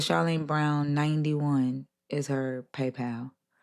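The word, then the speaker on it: Charline: It's uh at Charlene Brown 91 and and my name is spelled C H A R L I N E Brown and then 91.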